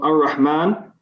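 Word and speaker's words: الرحمن: Yeah, so Ar-Rahman, yes, we don't pronounce the lam, and we put a shadda on the ra.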